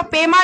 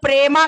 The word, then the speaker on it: पेमा: पेमा खांडू जी, श्रीमान, अरे हमारे मोदी जी को ना पेमा खांडू का नाम उच्चारण में थोड़ा तकलीफ होता है, वो पेमा नहीं बोलते, वो प्रेमा खांडू बोलते हैं।